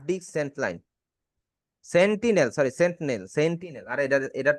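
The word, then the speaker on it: Sentinel: Hardware Saint line বা hard disk Saint line, hard disk Saint line, সেন্টিনেল, sorry সেন্টিনেল, আর এটার pronunciation আমার ভুল হ্যাঁ হইবই।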